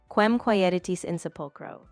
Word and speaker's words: Quem quaeritis in sepulchro: So the pronunciation would be something like Quem quaeritis in sepulchro.